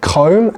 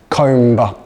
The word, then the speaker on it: comb: The B is silent, okay? So comb and not comber.